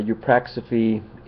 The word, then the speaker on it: eupraxophy: or the supernatural uh eupraxophy i guess that's how it's pronounced euphrate is a non-religious